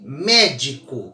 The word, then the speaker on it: médico: ela leva acento sempre é o caso de médico veja Qual a sílaba mais forte da palavra médico ao a mais forte é o Me tenta